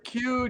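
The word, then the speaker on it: queue: about the second one isn't the word q just the letter q followed by four silent letters q-u-e-u-e i mean it's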